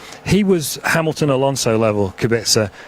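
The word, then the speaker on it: Kubica: was Hamilton Alonso level kabisa or Kubek sir as a Polish friend of mine tells me it should be pronounced and so why wouldn't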